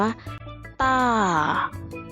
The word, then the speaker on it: 大: รูป ภาพ นะ คะ คำ นี้ อ่าน ว่า ต้า ต้า แปล ว่า อะไร